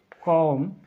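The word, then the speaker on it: comb: यहाँ पर देख सकते हैं आप, इसको पढ़ेंगे हम कॉम, यानी कि इसमें साइलेंट क्या है, कॉम में साइलेंट क्या है भाई, बी साइलेंट है। आप देखेंगे कॉम, क्योंकि बी को नहीं पढ़ा गया है।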